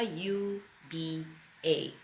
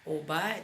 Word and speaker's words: uba: to get naked that's the word you buy you be a that simply spell some people also spell it as oba oba doesn't matter if it's Obama or uber it